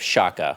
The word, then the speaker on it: Chaka: in Oregon it was scared of Shaka with a sh sound just probably I I